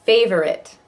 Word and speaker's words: favorite: for now favorite verses favorite looks like it should be three syllables it's pretty much two favorite playing playing playing